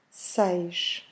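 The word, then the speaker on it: seis: number six six and pay attention to that S at the end because it means you have to do a soft sh at the end so repeat with me please say say number seven is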